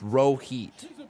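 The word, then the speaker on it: Rohit: i like him row heat row heat it's pronounced row heat row heat row eat so i've been saying row eat versus row heat just to piss off raul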